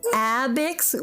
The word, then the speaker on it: Abex: anything you say now it is abex with a long a it's one long wide a in front because i get to write it the a goes from like one corner to the other lots ah like you're